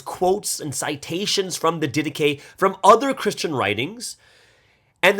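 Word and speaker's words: Didache: important to in Christian history it's called the dedicate it's spelled like d-i-d-a-c-h-e so it sounds like it looks like it says didac but actually uh it is pronounced dedicate okay so this is a very very early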